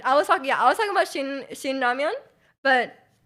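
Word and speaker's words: 라면: It's called ramyeon. Yeah, it's Korean. Ramen, spelled like that is Japanese.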